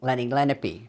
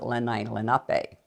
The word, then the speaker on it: Lenape: lenai Lenape in fact I grew up saying Lenny lenpy everybody said Lenny lenpy and then when I started teaching New Jersey history I found in a book you pronounce it lenai Lenape well if you have